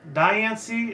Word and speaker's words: Diancie: Diancie, it sounds like Princess Diana came from the Royal Guards of London, or like the British Prime Ministers back in the 80s and 90s.